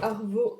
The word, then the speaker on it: Arvo: C'est Arvo Label, comme ça se prononce, A-R-V-O.